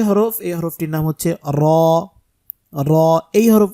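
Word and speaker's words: راء: এই হরফটির নাম হচ্ছে র র এই হরফ উচ্চারণ করতে গিয়ে আমরা যে ভুলটা করে থাকি সেটা হচ্ছে র উচ্চারণ করার সময় জিহ্বার আগাটার মধ্যে কম্পন সৃষ্টি হবে কম্পন তৈরি হবে যেটাকে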